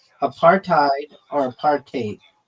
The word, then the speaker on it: apartheid: It's pronounced a partate or a partate with a bit of a Dutch style hide at the end like height with a D. It's made from apart and hide.